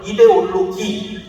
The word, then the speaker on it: 이데올로기: 이데올로지라든가 아니면 이념, 사상 이렇게 말하지 않고 이데올로기, 즉 프랑스 발음으로 이념을 말한 거예요. 이데올로기.